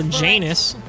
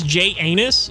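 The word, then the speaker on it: Janus: Okay, so Janice, first of all, not the pronunciation I would have chose. Let's be straight up. It's J anus, which isn't fun.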